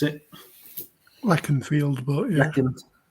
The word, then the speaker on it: Leconfield: Leacon Field at 5. I think that's how you pronounce it. Leconfield, but yeah.